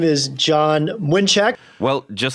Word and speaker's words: Mlynczak: isn't it uh John exactly how do you pronounce that name my name is John winek well just like John said that is uh